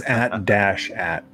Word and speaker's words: AT-AT: That's not how you pronounce it. It's AT-AT.